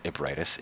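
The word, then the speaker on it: Ebrietas: I think someone told me that one of the devs, or someone from like the dev team for this game, pronounced it as Ebriatis in an interview.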